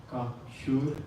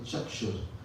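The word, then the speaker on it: चक्षुः: So all the C's in our text are pronounced as cha. So instead of kakshur, it can be chakshur.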